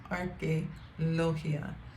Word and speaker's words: Arqueología: Museo de Arqueología, that's how you pronounce it, Arqueología.